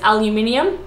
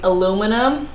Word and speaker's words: aluminium: there's a finite way there's aluminium is how I would say it and then Americans say aluminium aluminium which is like a lot of work and to be honest